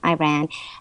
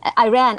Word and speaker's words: Iran: and raised in Tehran Iran and Iran I only say that because people say it like that but it's really Iran and as you know